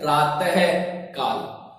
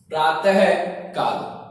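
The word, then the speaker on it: प्रातःकाल: विसर्ग का जब हम उच्चारण करते हैं तो वो है के रूप में होता है।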